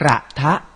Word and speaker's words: กระทะ: ไหม ขอ รับ ว่า รูป สระ อะ ที่ เรา ไว้ หลัง พยัญชนะ ต้น เรา ต้อง ออก เสียง อะเต็ม เสียง เช่น คำ ว่า กระทะ อ่าน ว่า กระทะ ขอ รับ และ คำ